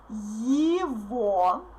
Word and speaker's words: его: So his or its, if it's neuter, его, listen to my pronunciation attentively.